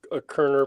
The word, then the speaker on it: Koerner: Is this a Kerner painting? Indeed. That's exactly. It's spelled Koerner. And he one of the